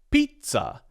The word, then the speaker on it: pizza: Pizza. That is correct. This word has 2 syllables. The primary stress is on the first syllable, P. The second syllable, ts, is unstressed.